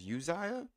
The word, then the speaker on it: Uzziah: He built or wait oh it's pronounced Uzziah I thought it was Amaziah so Uzziah he built Elath and restored it to Judah